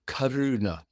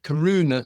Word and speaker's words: karuna: ago it somehow was karuna compassion was described as quivering I think that was the word that was used of the energy nonsense compassion the very first Sy syllable in the Pary is car k a like the